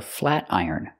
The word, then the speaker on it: flat iron: That thing she's using to straighten her hair is called a flat iron. Pronunciation, flat iron. We hear the T changed to a fast D.